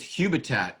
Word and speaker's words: Hubitat: that as well um actually it's hubitat i was i was pronouncing that wrong i hadn't heard that